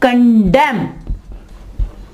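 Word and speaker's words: condemn: ठीक है, इसी तरह कंडेम, यहां देखें एन से पहले एम आ गया तो यहां क्या होगा कि जो एन है वो आवाज नहीं देगा। यानी यहां पे एन जो है ये साइलेंट लेटर है, यहां पे एन साइलेंट लेटर है, वर्ड के अंदर आ रहा है लेकिन आवाज नहीं दे रहा। ठीक है, आउटम, कंडेम।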